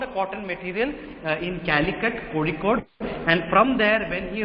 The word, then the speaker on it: Kozhikode: Okay, so I know how to pronounce that. It's Kozhikode. Okay, you might not be able to pronounce that properly, but just try. Okay, it's Kozhikode. We call it Kozhikode and Calicut in English.